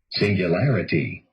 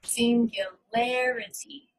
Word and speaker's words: singularity: of the syllable so let's listen to this word singularity singularity so it stresses this syllable the other syllables are unstressed singularity singularity so you can